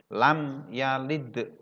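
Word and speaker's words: لم يلد: Ini dibaca jelas, ya. Mim sukun bertemu dengan ya. Bacanya lam ya, bukan banyak dengungnya, bukan lam, bukan seperti itu. Banyak bacaannya jelas pendek. Lam yalid wa lam yulad, ya.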